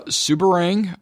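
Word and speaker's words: Seberang: end up spelling some because i'm sure i'll mispronounce a couple of these but uh subarang perea subong jaya and george town and those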